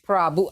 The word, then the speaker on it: Prabhoo: So, Prabhoo. I've just learned the correct way to pronounce his name.